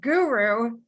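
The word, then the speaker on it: Gurooh: out of home organization he also runs a consultancy which is pronounced guru g-u-r-o-o-h i only just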